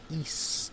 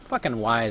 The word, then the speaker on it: Ys: it's pronounced that's how see whenever anyone gives you about how you pronounce e or Y some people call which wise everyone called it for years until we heard a correct pronunciation later on but either way if you call it wise it's wise to you that's all that matters it's a great game